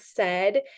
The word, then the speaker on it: said: said and you said the sounds for said are so normally a kid would hear that and spell it s d but we have to teach them that e is spelled Ai and AI normally says long a but this time it doesn't and so you just have to teach them that e sound that's your heart part and I draw a